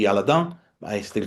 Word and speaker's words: Aladin: Since it was developed in Strasburg, probably the correct pronunciation would be Aladon, but I still call it Alladin.